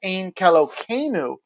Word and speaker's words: Ein Keloheinu: Orthodox Jews pronounce it as Ein Kelokeinu when referring to it outside of prayer in order to avoid taking the name of God in vain or otherwise violating the sanctity of reverence to the Almighty.